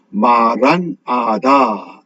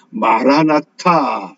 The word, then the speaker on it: μαραν αθα: 이것이 헬라어 성경에서는 아람어로 마란아다 이렇게 번역을 합니다. 이 마란아다를 우리가 영어식으로 발음을 하니까 마라나타 이렇게 우리가 주로 발음하고 기억합니다.